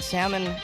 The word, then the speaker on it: salmon: it's awesome I don't pronounce the L and salmon and he doesn't pronounce the L in caul our pronunciations are